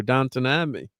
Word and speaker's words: Downton Abbey: see Downton Abbey, and he's got me pronouncing it right too, Downton Abbey.